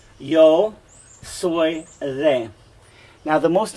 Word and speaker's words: yo soy: so you'll learn this yo soy is a your soy thing so just like soy beans yo soy is a now the